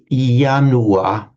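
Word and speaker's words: ianua: It's like a a symbolic almost a symbolic ritualistic right when we pronounce yanua in Latin.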